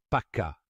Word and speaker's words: faca: les wallofs utilisent le mot Portugais pour dire couteau FACA qui est prononcé paka en wolov beaucoup d'Africains pensent que